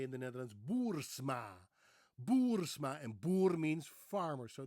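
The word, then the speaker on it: Boersma: Their last name is Bourma, as most Americans would pronounce it, Bourma. BMA Bourma. Of course, we would say in the Netherlands, Bourma, Boursma.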